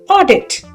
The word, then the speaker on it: audit: The sound of au is o as in audit.